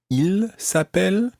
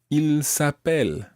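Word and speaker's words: ils s'appellent: Well, it actually sounds exactly the same as he is called. Il s'appelle, he is called. Il s'appelle, they are called. But it's spelt differently, and it's got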